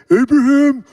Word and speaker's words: Abraham: go like this Patriarchs you got Abraham you have to say it like this Ibrahim Isaac Jacob and Joseph